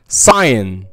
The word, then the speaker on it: sign: تاني حالة ما بيتنطقش فيها حرف الجي لما بيجي بعده حرف الان like sign, design, resign, assign, assignment, champagne, foreign.